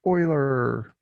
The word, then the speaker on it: Euler: it is an euler diagram but i call the guy euler because that's what his name looks like anyway but it is pronounced euler so euler says all silverware our dish washer